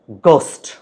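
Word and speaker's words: ghost: কুডনট তাহলে he could not বাট শিভার thought of গোস্ট এটা আমরা অনেকে ঘোস্ট বলি ঘোস্ট না উচ্চারণ হচ্ছে গোস্ট তাহলে ভূতের কথা মনে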